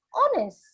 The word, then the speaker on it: honest: Honest. I don't say her. The her is silent We do not say honest, do we? We say it as honest.